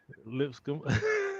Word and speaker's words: Lipscomb: Am I saying it right? Lipscomb. Lip, Okay, I lip, did say it right.